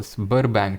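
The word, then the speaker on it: Sberbank: 49 पे आते हैं, giga chad developed by Russia's spur बैंक, कैसे प्रोनाउंस करते हैं इसको, स्बर बैंक, ठीक है, बर बैंक इसको प्रोनाउंस कर देते हैं।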